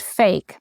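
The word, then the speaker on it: PHEIC: of international concern ER which is actually pronounced fake p i c and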